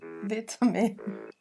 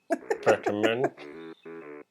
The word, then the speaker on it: vitamin: Nós vamos colocar aqui a pronúncia americana e o Dave vai repetir novamente essas mesmas palavras com o sotaque britânico, com a pronúncia britânica.